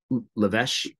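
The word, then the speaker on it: L'Évêché: pronunciations at Camp Le it's the El iveche or whatever you would say l apostrophe e-v-e-c-h-e um lavesh and the marines called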